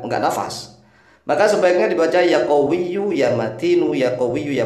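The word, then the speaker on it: يَا قَوِيُّ: yau sebanyak tu kali Perhatikan cara membacanya yaqowiyu yunya dibaca ya matinu nya juga dibaca yaqowiyu ya Ya kalau dibaca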